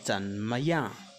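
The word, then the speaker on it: 怎么: Alors, comment en chinois, c'est zan maya. Zan maya. Zan maya. Tel que ça s'écrit.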